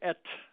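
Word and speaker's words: את: accusative particle is just the little Hebrew word ET um that's how it's pronounced and it's not translatable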